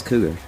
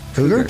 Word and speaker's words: Cogar: I thought it was Cougar. Huh. Okay, I've always said it wrong then. Atticus Cougar, apparently, defending the title against Priscilla Kelly.